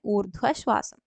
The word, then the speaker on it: ഊർധ്വശ്വാസം: ഊർധ്വശ്വാസം എന്നല്ലല്ലോ നമ്മൾ പറയാ, ഊർധ്വശ്വാസം എന്നാണ്. അപ്പൊ അത് ബി ആണ് കറക്റ്റ് വരുന്നത്, ഊർധ്വശ്വാസം.